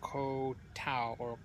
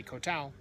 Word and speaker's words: Koh Tao: to the island of Koh Tao as it apparently is pronounced because when you say kotal no one knows what you're talking about it's the night